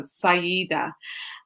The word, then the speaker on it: Saiyyidah: so today i have the wonderful wonderful wonderful syeda and yes that is how you pronounce it isn't it syeda say either yep